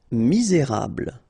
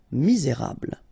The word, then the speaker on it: misérable: Misérable. Okay. Don't insist on the final E here. You get this bl, bl sound at the end. Okay. Misé. Et because you've got this accent, accent aigu. Rable. Misérable.